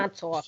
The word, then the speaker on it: Montauk: My brother will take us out there, but you got to pronounce it correctly. Dude, that U is a W. Dude, I'm Montauk.